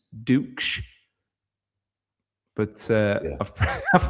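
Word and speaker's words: Ducksch: It's Duk. But uh I've I've pronounced it all sorts of different ways and one way not so flattering.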